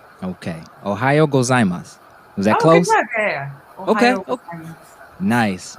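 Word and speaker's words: おはようございます: so can you for the audience can you pronounce it again how you say good morning ohayo gozaimasu okay ohio gozaimasu is that close okay nice nice excellent excellent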